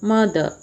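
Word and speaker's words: mother: एक चीज़ मैं आपको बताना चाहूँगी कि आरपी प्रोनाउंसिएशन में लास्ट में जो आर आता है उसको प्रोनाउंस नहीं करते हैं, इसीलिए हम फादर को फादर मदर ऐसे प्रोनाउंस ना करके फादर मदर इस प्रकार से प्रोनाउंस करते हैं.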